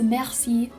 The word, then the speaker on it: merci: It is merci, which means thank you. Merci. Now you can see I have the h sound at the back of my throat when I say merci. It's a h, merci.